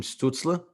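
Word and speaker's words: Stützle: I personally think, and I'm going to butcher his name, Tim Stutzla.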